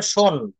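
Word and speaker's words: shown: এটা হবে হচ্ছে শো, শোড, শোড হবে, তারপর এটা উচ্চারণ হবে শোন, শোন।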